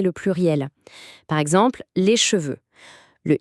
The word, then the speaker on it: cheveux: Par exemple, les cheveux.